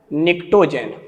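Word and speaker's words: pnictogen: 15th group का नाम, नाना पापा आंटी सब ग्रुप का नाम है निक्टोजेन, निक्टोजेन, जहां पी साइलेंट है।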